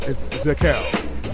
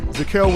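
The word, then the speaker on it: Zakelj: offensive line nick decals the j is silent zakal from fordham university zaquel was a 2021 team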